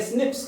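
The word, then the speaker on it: SNPs: होने की वजह से इसे स्निप्स कहते हैं स्निप्स प्रोनाउंस करते हैं अकर्स इन ह्यूमन दिस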